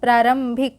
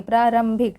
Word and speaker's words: प्रारंभिक: बिंदु ऐड हुआ है, मीन्स कि यहाँ पर भी इसका उच्चारण म के रूप में हो रही है, प्रारंभिक, ठीक है।